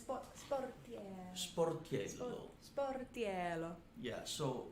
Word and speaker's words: Sportiello: Sportiello. Sportiello. Yeah, so I always say to pronounce correctly my last name, you know, it's two words. Sport, say that. Sport. And Sport. Sporty. Yellow. Sporty yellow. That's it.